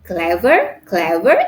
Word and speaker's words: clever: And the example of adjective is that clever. It has two syllables again. We put the stress in the first syllable. Clever. So we put the stress on the syllable cla, not verb.